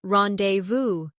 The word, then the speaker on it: rendezvous: For example, the word rendezvous comes from French and is pronounced rendezvous, or tsunami, which is from Japanese.